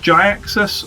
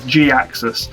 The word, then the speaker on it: Gaxis: You may have heard him pronounced Jaxus or even just Jaxus said really quickly. I stick with the traditional Ferland pronunciation of Gaxus as that was his